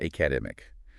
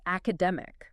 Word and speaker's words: academic: I said academic. I put a heavy stress on the second syllable. Right. And to a native ear, that immediately signals a disconnect. The stress must be in the middle of the word. It's academic.